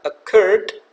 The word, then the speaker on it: occurred: Nah, contoh kata occurred, stresnya di suku kata yang kedua, occurred, maka curd, R yang terakhir kita double, kemudian tambahkan ed di belakangnya.